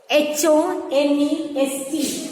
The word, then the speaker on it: honest: And there are words that begins with a consonant, but the consonant sound is silent, such as honest. H-O-N-E-S-T. Honest. So here, the H is silent here.